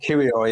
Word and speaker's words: Kiwior: For example, Tierney, fine, but if he plays next to Kiwior, is it the guy, how you pronounce his name? Kiwior, yeah.